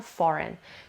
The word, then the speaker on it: foreign: بچه دقت کنید این لغت هم میتونه foreign معنی تلفظ بشه، هم foreign. توی بریتیش اکسنت میگن foreign، توی امریکن اکسنت میگن foreign. خب جفتش هم درسته.